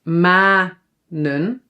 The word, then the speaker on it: manen: So when a syllable is open, it ends on a vowel, then the vowel is pronounced long, but we only need to write one.